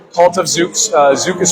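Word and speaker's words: zouk: So, cult as in like joining a cult like cult of Zuks. Uh, Zuk is spelled Z O U K.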